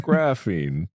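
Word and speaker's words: graphene: Graphine. Graffine. Graffine. Graphine. Is it graphine? Yes. Oh my god. You know why you know that? You know how you know that? Graphite. Stupid.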